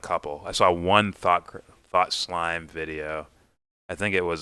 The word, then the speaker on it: Thought Slime: Thought Slime rhymes with thought crime.